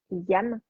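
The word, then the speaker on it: यं: Donc, pour ce chakra-là, c'est le bija mantra qui se prononce YAM, Y-A-M.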